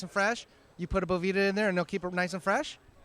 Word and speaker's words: Bovita: It is Bovita, but hey, everyone says Bovita, or it's a bunch of different things.